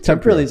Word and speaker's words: Temprile: Temprile's okay, yeah, you're close. Temprile. My Nona would say it like that, Temprile, exactly.